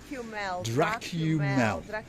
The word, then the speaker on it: Dracumel: Bubbles, that's here on the left hand side, and of course there is the Dracumel, or however you say it, takeaway. How do you say it? Dracumel. So think of Dracula as you're sucking the